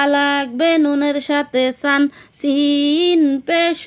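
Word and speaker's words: سين: Scene উচ্চারণ কেমন হবে? সিন সামনের নিচের দাঁতের আগা থেকে শীর্ষসহ পাতলাভাবে আদায় হবে, নইলে সা অথবা সদ অক্ষর আদায় হয়ে পড়া হারাম হয়ে যাবে। খারাপ আঁকা চিহ্নের এই জায়গায় সাবধান হও। সা অথবা সদ অক্ষর আদায় হয়ে যেতে পারে।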